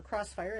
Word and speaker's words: Xfire: Uh because again in Japan uh when they have an X a lot of the time that can also be translated to cross.